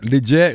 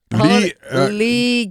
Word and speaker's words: Legette: told us he said you gotta hold the E Lee yeah give update on